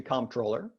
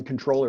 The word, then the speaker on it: Comptroller: If I'm thinking about it, I pronounce it Comptroller. Right. Comptroller. Right. And if I'm not, or if I'm really worked up about something, I'm the controller really easy. And neither really matters all that much.